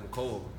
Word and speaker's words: Mecole: It's actually pronounced McCole.